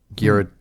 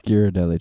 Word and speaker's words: Ghirardelli: dark chocolate that's bitter Ghirardelli huh Garrett am I saying that wrong you guys are being quiet how you pronounce that no that is not how you pronounce that you pronounce it oh no why can't I pronounce anything right listen this is coming from the person who pronounced cash cash yeah I don't think that's how it's pronounced it's Ghirardelli chocolate you're right ace yay